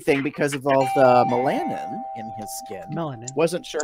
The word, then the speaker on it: melanin: Melanin. Melanin. Okay, so I just pulled up Google, and if you're listening to the stream, you'll hear this. Melanin. It's pronounced melanin. Yeah. Not melanin.